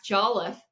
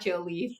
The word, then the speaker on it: Jolliffe: Also, Max Jolliffe, not Joleaf, not, so I think I messed that up a few times early on too, but we're going to do things to improve that.